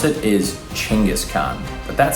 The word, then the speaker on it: Genghis Khan: which means Universal ruler the actual way you pronounce it is chingis Khan but that sounds horrible and I don't like saying that so I'm going to keep calling him gangas Khan in this video you're welcome bro really turned